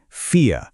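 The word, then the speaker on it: vier: Example के लिए number चार को देखिए फियर। ध्यान रहे यह वियर नहीं है। यह है फियर। एक लंबी ई के साथ फियर।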